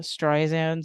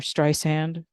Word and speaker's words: Streisand: It's a Streisand song, or Streisand, pronounce it correctly.